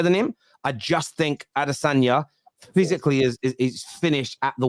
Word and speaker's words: Adesanya: For I can't pronounce the guy's name. Adesanya. Adesanya.